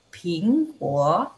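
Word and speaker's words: 苹果: Apel Mandarinnya adalah pingguo. Pingguo. Ingat ya, P bacanya gimana? P juga tapi ada H. Ping gitu ya, ping. Sedangkan G-O-U, G baca dengan K ya.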